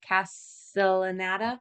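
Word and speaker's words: Castellaneta: they all done by Dan how do you pronounce it Castle anata yes wrong guy but yes okay right so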